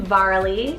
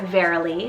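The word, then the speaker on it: Varali: Keeping on the girl side, I have the name Varley or Verily, spelled V-A-R-A-L-I, Verily or Varley, depending on how you want to pronounce it.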